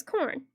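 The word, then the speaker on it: Khorne: Sam says the chaos god of gore, and Foyton is corn, pronounced as corn.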